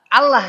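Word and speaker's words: الله: Jadi bukan dengan cara di kanan karena secara tulisan latin juga a l a h allah tulisannya tapi kita bacanya tebal tafkhim. Bagaimana cara menebalkannya? dengan si pangkal lidah kita yang diangkat Al Allah gitu ya.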